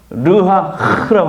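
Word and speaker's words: רוח: 생기를 불어넣어서 살리시다 거예요 여기서 생계는 히브리어로 르하라고 합니다 그래서 흐 발음을 잘해야 돼요 흐 발람 할 때 르하 흐흐 이러면 안 되고요 르하 이거 할 때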